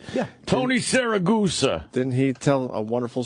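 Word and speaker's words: Siragusa: Tony Saragusa, right? Yeah. Tony Saragusa.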